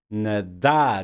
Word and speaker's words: nadar: Nadar. You see the word stress in the last syllable? Nadar. It's not nadar. It's nadar.